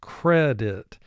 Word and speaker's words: credit: The word is credit, and if you listen, you can hear the emphasis is on the first syllable, credit.